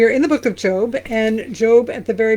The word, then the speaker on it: Job: It's pronounced Job.